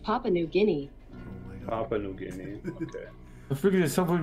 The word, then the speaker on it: Papua New Guinea: you mean okay Google how do you say papa and New Guinea that's pronounced Papua New Guinea Papua New Guinea figures someone would be back